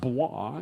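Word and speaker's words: bois: anybody in your family this word that looks like boys is pronounced ba and you this and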